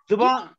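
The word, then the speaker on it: ज़बान: अगर ये जो भी है, उर्दू जुबान है, जुबान भी और जबान भी, जुबान बेहतर है। ये दोनों लफ्ज ठीक है, जबान भी और जुबान भी।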